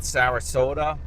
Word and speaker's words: Sarasota: going to talk about Sarasota rhymes with Yoda also known to drive and like Toyota now he's driving forward